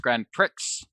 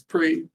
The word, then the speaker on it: Grand Prix: it's only recently I realized not pronounced Grand Pricks because the AES there I figured to be pronounced nope it's Prett and by Reon I mean like in the last few years where as a kid I was like oh it's Pricks like tricks like the cereal which does raise the